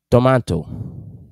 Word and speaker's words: tomato: Tomato. In American English, the pronunciation is tomato.